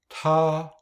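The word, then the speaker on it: 他: Chúng ta phải phát âm rõ ràng chữ cái “t” với một chút không khí bùng nổ: tā.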